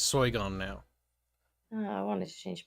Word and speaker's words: Sargon: the discord link because say his name correctly it's soy gone now i wanted to